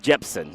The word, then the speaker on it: Jepson: Les Jepson. Jepson. There's Yep. a P in there.